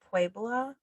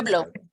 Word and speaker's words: Pueblo: Am I saying it right? You know Pueblo. Mm-hmm. Pueblo. Pueblo. And he's speaking Spanish with an English accent. Puebla. Puebla. There you go. I went to a Native American Pueblo.